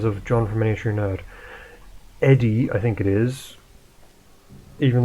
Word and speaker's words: ED-E: It's like because of Miniature Nerd, I pronounce it as Edie, but it's supposed to be Eddie, but that doesn't make much sense.